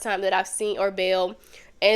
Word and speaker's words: Baal: challenges the prophets to Baal. If you know anything or ball is pronounced two ways. I've heard it both ways, but if you know